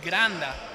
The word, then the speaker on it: Granda: called by Granda or I should say Granda like it's pronounced in Spanish Richardson in the line